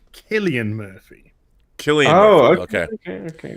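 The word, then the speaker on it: Cillian Murphy: don't know who they are but hey it's pronounced killian murphy killian oh okay okay okay okay only brits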